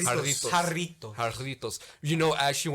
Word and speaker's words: Jarritos: Okay, is jarrito or jarrito? Jarritos. Jarritos. Because there's 2 R's. Doble R.